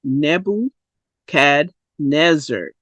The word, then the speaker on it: Nebuchadnezzar: consonant vowel rule says if you have a double consonant like this then this e is a short e and it's pronounced e so that is nebble Nebuchadnezzar a sentence is Nebuchadnezzar